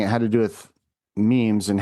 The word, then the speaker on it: meme: Chosen to chosen to sound similar to gene but the mechanism.